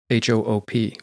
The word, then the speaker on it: hoop: like Dutch where it's pronounced the same but spelled h o o p or hoop and the German Hong